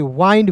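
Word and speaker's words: wind: object clear वाइंड डब्ल्यू आई एन डी को पढ़ेंगे वाइंड विंड नहीं वी ई आर Y very M यू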